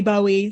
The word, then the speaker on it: Bowie: pronounce his name and he named his daughter Zoe so it's Zoe Bowie so like you know it's not zo zo but in terms of